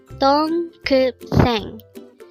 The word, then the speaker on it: 동급생: DONGGEUBSAENG. Again, it's DONGGEUBSAENG. This is pronounced as a three-syllable word. The first syllable is dong, second syllable is gup, and third syllable is seng.